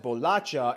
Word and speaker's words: bolacha: thing people in sao paulo will call it bolacha and the people in rio will call it